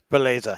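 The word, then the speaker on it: Beleza: He's an NTV Belize fan. Is that, have I pronounced that correctly? Belize, yeah.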